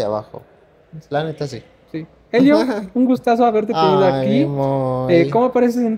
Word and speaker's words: Helio: como Elio c Elio mi nombre se escribe con h okay De todas maneras